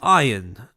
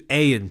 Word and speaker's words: Ayan: So now I want to pivot over to Iron Project. To Ayan Project. I keep saying Iron because, well, I assume grammatically that's how it's supposed to be pronounced, but Ayan Project.